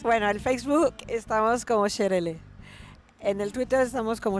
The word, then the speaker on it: Sherele: es una pieza o sea lo correcto es pronunciar los sherel sherel sherel kmer no sherel bu kmer Cómo se